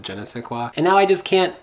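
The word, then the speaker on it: je ne sais quoi: once saw somebody say Jenny says qua instead of Jenna say qua and now I just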